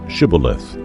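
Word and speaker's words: Shibboleth: If he said, "No," they said to him, "Then say, Shibelith." And he said, "Scibaleith," for they could not pronounce it right.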